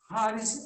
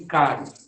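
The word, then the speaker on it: χάρις: Haris é graça. Alguns chamam de caris, mas na pronúncia grega mesmo é haris.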